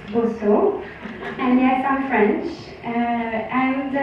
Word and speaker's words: Bosseaux: so I'm that's the right way to pronounce it it's not B it's not B it's boso and yes I'm French and being French is